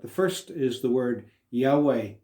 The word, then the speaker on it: Yahweh: the consonants y-h-w-h and the nearest pronunciation we're aware of is yahweh so where we find